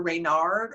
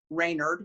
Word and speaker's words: Reynard: the continent of africa there are reynard or raynard whichever way you'd like to pronounce it stories from france he's